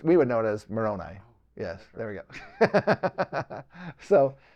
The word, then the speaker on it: Moroni: the koros islands well let me let me spell it for you it's m o r o n i oh that's yeah Moroni yeah it's not no